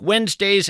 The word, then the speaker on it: Wednesday: If you're in fact scribbling this down, Wednesday is kind of tough to spell. It's not like it sounds. You want to spell it we enz, but that of course would be a mistake.